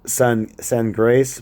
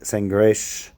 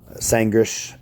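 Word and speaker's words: Sagres: It looks like San Grace, but it's like pronounced like Sangresh, Sangrish, something like this.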